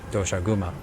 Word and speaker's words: Doshaguma: I feel it should be pronounced in the Japanese way which would be doshauma but anyway yes so